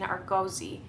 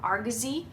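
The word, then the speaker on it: Argosy: It was serialized in three separate parts in Arggoi or Argazi. I've heard it pronounced both ways.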